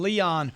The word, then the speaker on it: Leo: Leon. Yeah, hi, Grant. Dude, good to talk to you, Leon. I wish my name was Leon. It's just Leo, but hey, I'll take it.